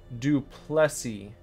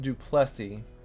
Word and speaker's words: Duplessis: the way it's pronounced do Plessy it's pronounced do Plessy but it is spelled Duplessis but it's pronounced to